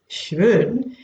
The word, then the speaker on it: schön: The reason why I'm saying this schön is, and it's practically coming from my stomach, the schön, is that the O has an umlaut on it. Now that changes the pronunciation from straightforward O to Ö.